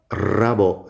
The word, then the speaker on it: rabo: beginning of a word, if you have an R at the beginning of a word, you pronounce it like double R, even if it's written only as a single R.